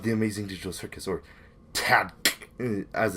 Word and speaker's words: TADC: Episode 6 of the Amazing Digital Circus or Tad, as it's pronounced, T A D C.